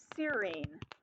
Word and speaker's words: serine: AGU tells us we want a serine. Remember that INE ending in an amino acid is pronounced ene.